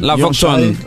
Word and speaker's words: Lavoge Tone: La Vogue Ton. Ton. La Vogue Ton. C'est comme ça se prononce.